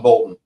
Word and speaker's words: Bolton: Yep, John Bolton. Yeah, said it right. I just want to make sure I pronounced it right.